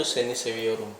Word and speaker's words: seni seviyorum: Tulisannya Seviyorum itu tulisnya pakai V ya, karena di bahasa Turki itu nggak ada huruf W, pakainya V. Jadi seni seviyorum kalau ditulisnya, tapi bacanya itu seni seviyorum.